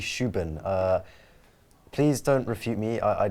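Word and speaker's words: Rúben: Well, apparently his first name, I was watching a video in European Portuguese. Apparently it's actually Shuban.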